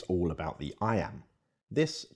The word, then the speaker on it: iamb: The word iamb is pronounced just like the phrase I am.